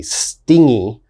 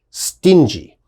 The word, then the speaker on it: stingy: A lot of my students mistakenly say stingy. Okay, you got to be very careful. It is pronounced stingy.